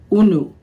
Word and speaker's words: unu: We have a very very popular word that we use and we pronounce it unu.